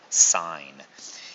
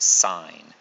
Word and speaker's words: sine: trig ratio is called sine it is abbreviated as s i n lots of students want to pronounce this as sin but it is not pronounced sin it is still pronounced sign it's an abbreviation they